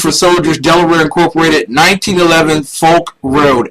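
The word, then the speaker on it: Foulk: um listen stockings for soldiers Delaware Incorporated 1911 Folk Road f o u l k road and road is spelled Rd it's really not but spk not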